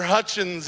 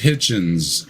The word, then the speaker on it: Hitchens: Yeah, say his name Hutchins? is Hitchens. Hitchens, His name was moron. Hitchens. I mean, for as famous as he is, you should get his name right, you know?